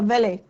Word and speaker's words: valet: She entered followed by a valet, अब इसको valet भी बोलते हैं, valet भी बोलते हैं, टी साइलेंट भी रहता है इसका, valet। कई बार आप लोगों ने सुना होगा वैले पार्किंग।